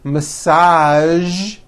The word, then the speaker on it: massage: Now, there are only a few words that have the voiced zh sound at the end. A few of these words are the color beige, the word massage, and the word prestige.